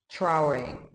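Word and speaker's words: Traoré: So let's talk about Ibrahim Traore. I believe that's how you say his name. It's spelled Traore. I'm pretty sure it's more French.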